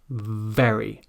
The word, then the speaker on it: very: the worst sound, but the trick here is simply to stick your front teeth out over your bottom lip, like Bugs Bunny. If you imagine Bugs Bunny, you can imagine those front teeth coming down over the bottom lip there. Then breathe through your mouth with your teeth in this position and say the word very.